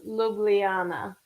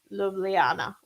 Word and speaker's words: Ljubljana: I think it was Ljubljana. Slovenia. I think that's how you say it. It's the capital of Slovenia, and it's got a lot of consonants in it, but we were saying Ljubljana.